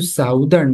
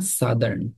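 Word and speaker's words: Southern: সাদার্ন road বলতে পারি উচ্চারণটা কিন্তু সাউদার্ন না সাদার্ন ঠিক আছে খেয়াল রাখবেন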